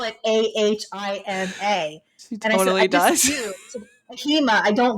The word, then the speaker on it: AHIMA: association also known as ahima did i say that right stacy did i did i pronounce all the acronyms it's supposed to be a-h-i-m-a i have a thing